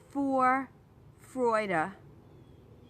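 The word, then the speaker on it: Vorfreude: the more you put for Freud a-- into your life i wanted to try to say it correctly it starts with a V but the V is pronounced as an F in German the more you put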